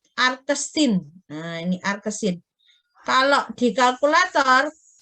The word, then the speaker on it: arcsin: Nah, kalau sinus X sama dengan sinus ini bahasanya kalau sinus pangkatnya negatif 1 ini jangan dibaca sinus pangkat negatif 1Y ya. Tapi bacanya inverse. X sama dengan inverse Y atau arcsin.